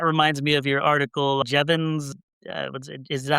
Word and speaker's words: Jevons: That reminds me of your article, Jevons. Is that how you pronounce the name, Jevon?